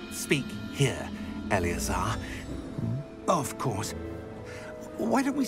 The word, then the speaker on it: Eleazar: Oh, Eleazar! George! Well, that's how you pronounce his name.